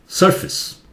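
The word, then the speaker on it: surface: इसे बोलिए, सुनिए, सरफेस, फेस नहीं, फिस, सरफेस इसे बोलिए, सुनिए, पेपर,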